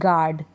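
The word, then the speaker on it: guard: तो इस प्रकार से इन सारे स्पेलिंग्स में हम जी यू को ग पढ़ रहे हैं, क्योंकि जी यू के जस्ट बाद में क्या है, स्वर है।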